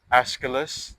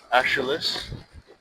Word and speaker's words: Aeschylus: And the story, uh, we can take the story of Aeschylus or Aeschylus, Aeschylus, depending on how you present it, how you say his name.